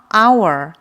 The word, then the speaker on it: hour: 어을 쓸까요을 사용할까요 정답은입니다 어 h 시작하는데 왜 언니에요 여기서 h n 무음이에요 소리가 나지 않아요 그래서 our 모은 발음이 때문에을 사용해 주는 거예요 다음